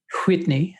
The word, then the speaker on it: Whitney: Whitney. That is the appropriate pronunciation for her name.